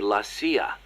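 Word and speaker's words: La CIA: around here they say lasya instead of CIA huh yeah nothing strange about it that's how it's pronounced when you read it in Spanish it has the feminine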